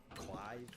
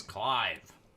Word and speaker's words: Clyve: say his name was cly it's clyve there's a key I'll